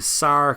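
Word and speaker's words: Sare: spain's right there so there'd be a sar caves s-a-r-e um which rhymes with car which is the other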